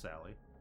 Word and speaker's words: Sale: The Bayou Sally Road. Bayou Sally Road. Uh, spelled Bayou and then S A L E spelled like Sale. It's pronounced Sally.